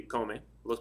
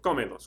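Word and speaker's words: cómelos: Next one, comer would be come. Los panqueques can change to los. So we have comelos, comelos, accent over the O.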